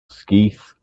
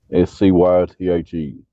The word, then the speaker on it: scythe: to talk to scythe how do you pronounce though skeeth s-c-y-t-h-e somebody else it's scythe it's the weapon of the